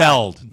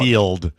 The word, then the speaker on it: Gutfeld: Gutfeld, not Gutfeld. Gutfield. Yeah. I It's can not mispronounce his name. Gutfield, Rob. I can It's mispronounce his name. F-E-L-D.